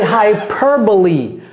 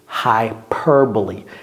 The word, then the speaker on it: hyperbole: Ça, c'est hyperbole. Hyperbole. Now you know how to pronounce it, okay?